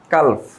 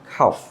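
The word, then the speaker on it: calf: এটাকে আমরা বলি কালফ, কালফ বলি, বাট এটার উচ্চারণটা হবে খাফ। কী হবে? খাফ, খাফ হবে, খাফ। এখানে এলের উচ্চারণ হবে না, ডিরেক্ট খাফ, খাফ, খাম, খাম।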